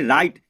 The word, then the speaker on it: right: तो दोस्तों फिर इसके बाद है RIGHT इसको पढ़ेंगे राइट, इसको बोलते हैं राइट, तो GH तो साइलेंट होता है, तो हमने इसको नहीं पढ़ा।